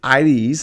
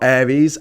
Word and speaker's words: Aires: But if you try that in Buenos Aires, and it's pronounced Aires, like not Aries, Aries, with an I sort of sound at the beginning.